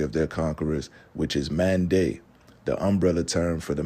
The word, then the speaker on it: Mende: asked who they were, the reply that they received was Mande, but the British pronunciation likely came out as Mandai, hence the pronunciation and spelling today.